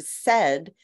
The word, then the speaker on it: said: You would expect these sounds, but for example, the word said, the AI makes a short E sound, which is unexpected.